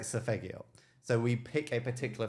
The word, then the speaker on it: Solfeggio: name, I always say Sofigo, and it's not Sofigo, it's Fegigo? Sofigo. I'm the wrong person to ask. How the hell do you pronounce it? Of course. Solfeggio.